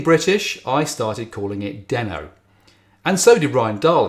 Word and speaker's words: Deno: i started calling it denno and so did ryan dahl in his early videos but most people seem to opt for dino and that's possibly because it's spelt the same as reno in nevada or because its logo